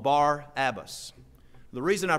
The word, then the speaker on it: Barabbas: They had a notable prisoner called Barabbas. The reason I pronounce that way is I do believe that would be the correct pronunciation.